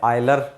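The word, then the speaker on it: Euler: अब Navier stock के बाद में आते हैं हमारे आयलर, जिसको आप बोलते हैं यूलर बोलो, एक ही बात है, प्रोनाउंसिएशन अलग अलग है यूके यूएसए का, मैं इसको यूलर ही बोलूँगा।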